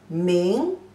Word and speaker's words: 明: Pronunciation as me, yin, ming, the second tone.